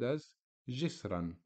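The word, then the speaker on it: عصرًا: actually on the alif alef is silent so we pronounce the word asran as if the double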